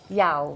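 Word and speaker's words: Yaw: Just on your, how do we pronounce his name actually? Yao.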